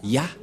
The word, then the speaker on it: Yah: Moché est très claire ça se prononce ya et comment on va